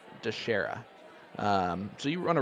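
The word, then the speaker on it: Dicharia: pick with nick dashera i can spell that out for you it's d-i-c-h-a-r-i-a d-shara um so you want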